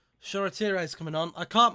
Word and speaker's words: Shoretire: They can't even pronounce his name right on the bloody BT. They just called him Shiratore. Shoretire.